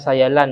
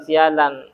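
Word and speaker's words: سيلان: atau secara etimologi sayul cara bacanya sayalan Ya bukan sialanam mengalirnya Banyu iku mengalirnya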